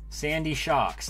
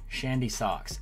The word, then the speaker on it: Sandy Shocks: pooa Wiglet meltan seedot Sandy shocks there I said it right that time Shandy Shandy socks elium Kia art love